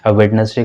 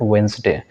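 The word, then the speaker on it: Wednesday: On Sunday भी कर सकते हैं, on Sunday, on Monday, on ट्यूसडे, ऑन वेंसडे, on Friday, on वेडनेसडे को हम लोग वेंसडे कहते हैं। Correct pronunciation is that वेंसडे।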